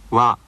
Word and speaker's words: わ: よよよ夜さよならわわわ This sound wa is more relaxed